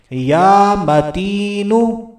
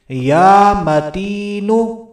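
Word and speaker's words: يا متين: توجہ کے ساتھ سننا ہے، اپنی پروننسیشن، اپنے تلفظ کو بھی لازمی ٹھیک کر لینا ہے۔ یا متینو، اس اسم مبارکہ کو ایک مرتبہ پھر سن لیجئے، یا متینو، یا متینو۔ تو اسی اسم مبارکہ کو اس عورت نے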